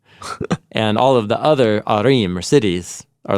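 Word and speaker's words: עָרִים: Yeah, of many arim, is how you say it in plural.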